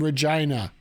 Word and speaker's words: Regina: Regina and yes folks it is named Regina here in Canada its Regina Rose rhymes with the word that means fun okay um I've heard that